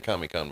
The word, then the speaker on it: Comic-Con: Indeed, I actually have you ever been to Comic-Con before? No, I I haven't been there. So, it's the big thing is San Diego ComicCon, but they pronounce it ComicCon like it's one word.